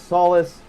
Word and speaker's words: Solis: So I just spell it as solis, but pronounce it as solace.